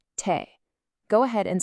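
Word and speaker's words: 手: It's pronounced Te. Go ahead and say it. Te.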